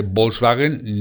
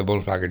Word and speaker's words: Volkswagen: chile acá por cierto la ub esta que veis aquí se pronuncia o sea las v se pronuncian como una s la gente dice volkswagen no se dice volkswagen 7 foxx paguen ok